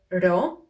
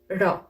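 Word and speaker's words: ρο: sound the sound ro the problem is that this letter resembles a lot the letter p and they think that it produces the same sound for example they may say posa instead of rosa so just keep this in mind this is actually the greek equivalent of the letter r and for the p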